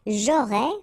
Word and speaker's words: j'aurais: J'aurais, final S not pronounced.